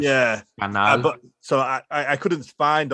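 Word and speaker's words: Canal+: Yeah, it sounds like the word channel in Spanish. Yeah, Canal.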